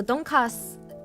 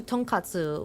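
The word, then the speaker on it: tonkatsu: So donkas. if it's spelled like donkas or donkatu. It might be um some Korean folks around the restaurant, but it's actually tonkatu, which is a Japanese dish, which is generally a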